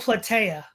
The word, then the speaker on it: Plataea: Is that how it's pronounced, Todd? What was that battle called? Oh, Plataea.